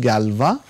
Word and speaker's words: Galois: It is pronounced Galois based on this guy who was French, and it is denoted by GFQ.